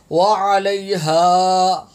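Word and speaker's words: وعليها: وعلیہا نہ عین کا پتہ ہوتا ہے نہ ہا کا پتہ ہوتا ہے، خالی الف کی آواز آ رہی ہوتی ہے. مہربانی کر کے یہ تلفظ بھی ٹھیک کریں. وعلیہا مکتسبت، یہ الف کا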